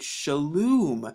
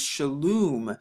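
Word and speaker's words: שלום: name yahuwah and then we have the mom right here which makes the mom or the ma sound so when we put it together we get shaloom so you see how we put it together it says shalom shalom and that's really how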